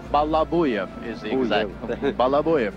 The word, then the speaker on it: Balabuyev: Balabuyev. Balabuyev is the exact. Balabuyev is the pronunciation.